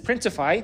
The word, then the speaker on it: Printify: use for this is printify and that's because it rhymes with Shopify but also because there's